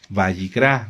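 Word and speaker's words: Vayikra: Bayicrá.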